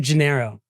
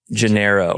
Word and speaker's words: Gennaro: How do you say your last name? Janeiro. Janiro. Yeah, it's Italian, you know, but I'm not tell.